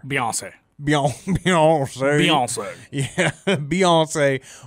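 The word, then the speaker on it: Beyoncé: beon Beyonce Beyonce yeah Beyonce which rhymes with fiance I just did not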